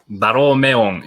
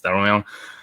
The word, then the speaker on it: Daromeon: That's probably not an easy pronunciation because I'm not really sure how to pronounce it in English pronunciations. It's Daromeon in Japanese pronunciation. Anyway, it's Daromeon.